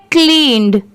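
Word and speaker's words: cleaned: ये है क्लीन्ड, इसे क्या पढ़ेंगे क्लीन्ड, CLEAN इतना क्या होता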